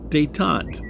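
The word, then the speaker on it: détente: getting into modern times uh during this phase dayon I'll spell it dayon d t n t dayon policies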